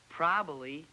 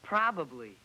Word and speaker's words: probably: It's not probably, it's probably.